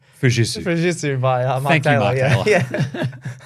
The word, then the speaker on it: Fujitsu: Okay, I believe it's pronounced Fujitsu.